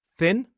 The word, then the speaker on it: thin: So the key here is if you want to say the th sound, we need to see a little bit of tongue right at the front. Thin sin thin sin s.